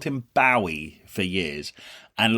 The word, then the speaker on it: Bowie: about David Bowie and Angie.